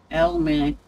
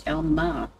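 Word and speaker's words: Alma: It can be pronounced two different ways. Elmer. Depending where you're from in the States. Well, A-L-M-A is Elmar in my book. Because it's only got one L.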